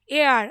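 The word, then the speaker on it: heir: হিসেবে থাকে যেটা হচ্ছে এয়ার আমরা এটা হেয়ার উচ্চারণ করি না এয়ার এইচ এর উচ্চারণটা প্রায় করা হয় না এটার মানে হচ্ছে উত্তরাধিকার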